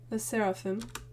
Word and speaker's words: LE SSERAFIM: floor again seraphim oh they literally told me how to pronounce the name one second the seraphim got it thank you very